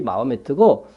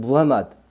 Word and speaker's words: 무하마드: 살던 곳이고, 마호메트라고 우리가 부르기도 하고, 원래 이제 우리가 듣는 발음 그대로니까 영어를 이렇게 번역한 것이 마호메트고, 원래는 무하마드, 그죠?